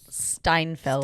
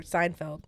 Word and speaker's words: Steinfeld: me, like, there's a moment where I don't know how to say her last name, Haley Steinfeld. I keep wanting to call her for Seinfeld. Haley Seinfeld. Like Jerry Seinfeld's daughter.